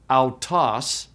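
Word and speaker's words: αὐτός: Alpha upsilon also forms a diphthong. It's pronounced au, like in sauerkraut. And so the Greek word for he is autos, autos.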